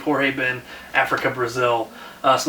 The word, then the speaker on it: Jorge Ben: exactly what this was jorge ben or George Ben I have no idea again for giving up both pronunciations but i believe jorge ben Africa Brazil so like